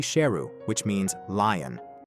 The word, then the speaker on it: Sheru: He also learned he had been mispronouncing his name his whole life. His name is actually Sheru, which means lion.